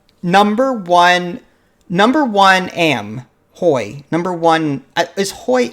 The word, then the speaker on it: hoy: yes we couldn't so whenever spanish word starts off with an h the h is silent boy yep there you